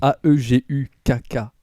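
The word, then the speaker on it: 애국가: Et donc, l'hymne de la Corée du Nord, alors je vais essayer de vous prononcer le mot, ça s'appelle Aeguka. Je sais plus ce que ça veut dire exactement. En fait, c'est Aegukkka.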